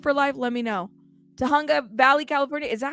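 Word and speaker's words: Tujunga: Okay, so the J is pronounced as an H. Tahunga? Did I say it right, Boxing for Life? Let me know. Tahunga Valley, California.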